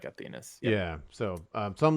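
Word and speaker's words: Athenas: athena's yeah yeah it's it's like athena with an s but i think they say it's they pronounce it like athenus yeah so um so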